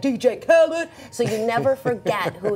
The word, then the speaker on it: Khaled: Oh, wait, how do you pronounce it? DJ Khaled, and then there's also Khalid.